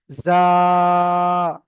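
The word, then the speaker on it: ز: চেপে উচ্চারণ হবে, জা।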